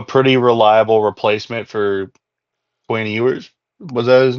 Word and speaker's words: Ewers: they have a pretty reliable replacement for Quinn Ewers. Was that his name? Yeah, yours. Did I pronounce it right at Yours.